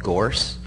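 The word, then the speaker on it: Gource: We use a piece of software called Gorce. It's spelled G-O-U-R-C-E.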